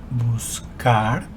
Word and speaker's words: buscar: The pronunciation of the infinitive form of the verb is buscar.